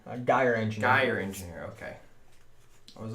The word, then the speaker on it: Gyre Engineer: And I cannot pronounce this word. Gear Engineer? Gyre Engineer.